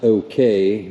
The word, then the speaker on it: Okai: is the I think it's pronounced okay but it's spelled okay a i and um this is